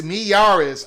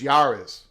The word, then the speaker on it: Miyares: And finally, in this article of 2023, pronounced Miyares. I thought the MI was silent. Miyares? Okay, I'll call him Miyares, but I thought the MI was silent. I thought it was just Yaris.